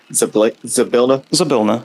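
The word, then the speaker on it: Zybilna: I always say the name wrong. Zabilna? Zabilna, yep.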